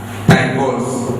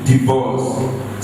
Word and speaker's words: divorce: Most people will pronounce this as divorce. This is not divorce. This is divorce.